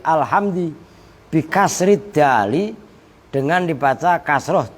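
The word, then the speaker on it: الحمد: Lafaz alhamdulillah bacanya bukan alhamdu tapi alhamdi, bikasri dali, dengan dibaca kasroh dalnya alhamdi, bittibai harokati dali, dengan mengikuti harokat dal, mengikuti alama pada lam.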